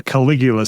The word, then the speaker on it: Caligula: We move on to our Caligula scene is how you say it.